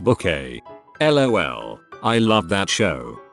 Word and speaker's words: Bucket: that there is a mrs bucket type person in real life that we all knew sorry it's pronounced book a lol i love that